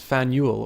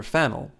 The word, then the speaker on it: Faneuil: Don't let the French spelling confuse you. The name of this building is pronounced Faneuil or Fanel.